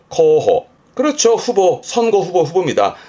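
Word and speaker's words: 候補: 발음은 코호, 코호.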